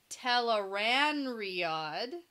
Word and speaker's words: Tel'aran'rhiod: So we get into chapter 27, Tel'aran'rhiod.